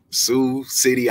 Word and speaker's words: Sioux City: who you are say what how do you pronounce where you're from uh it's Sue Sue City Iowa good God Almighty what going on in